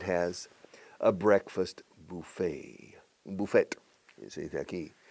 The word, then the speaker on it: buffet: Un buffet, se dice aquí. Es una palabra francesa. En inglés lo pronunciamos un poco a lo francés. Buffet, no, buffet.